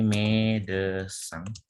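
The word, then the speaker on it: médecin: Terus ini bacanya chanson. Pencet. Ya, yang ini yang ketiga ini chanson. Yang artinya lagu. Ini medecin.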